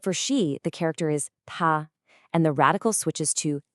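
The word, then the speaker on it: 他: If you say the word for he or she out loud, they sound exactly the same. Ta, it's a high flat first tone.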